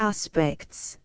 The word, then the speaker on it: aspects: Aspects, accent on final syllable.